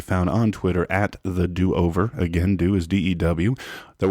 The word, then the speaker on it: Dew Over: The show is called The DoOver, and let me spell that for you. D-E-W, the D-E-W over. The DoOver is the name of the show, kind of like Mountain Dew.